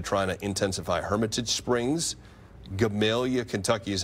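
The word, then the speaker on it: Gamaliel: Hermitage Springs, Gamalia, Kentucky is how you say that one.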